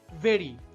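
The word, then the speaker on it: very: Logic আসলে এখানে ভেরি হয়ে গেছে বেরি। মনে রাখবেন ভি উচ্চারণের সময় উপরের দাঁত নিচের ঠোঁট স্পর্শ করবে। যেমন আমার সাথে সাথে উচ্চারণ করুন। ভেরি।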